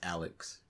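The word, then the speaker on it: Alxy: It's Alex. They spell it weird. They spell it like This A-L-X-Y.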